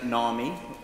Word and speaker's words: Narmi: This is Karina Narmi, rhymes with army, she told me, a rising star of British biotech.